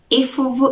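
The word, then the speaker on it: Ifubu: Ifuvu is written with a B and pronounced with a V.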